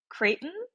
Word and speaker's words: Creighton: know because I don't know how exactly you pronounce it, but I picked Creighton. Yes, you nailed it, Creighton.